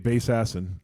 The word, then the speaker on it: Bassassin: now by the way I'm saying it correctly I know but DJ bass acid DJ DJ bass acid